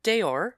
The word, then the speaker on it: deor: But the words used to name and describe them have often changed beyond recognition, starting with the Old English word for animal itself, deor, pronounced Deor. It's spelled D-E-O-R.